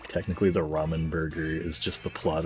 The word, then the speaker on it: ramen: Ramen rhymes with semen.